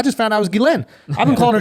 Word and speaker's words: Ghislaine: A lot of people don't even know we don't even know how to pronounce her name. I just found out it was Ghislaine. I've been calling her Ghislaine.